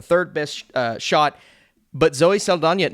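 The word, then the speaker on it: Saldaña: I was thinking they would have had Zoe Saldana. By the way, I'm going to start saying Saldana.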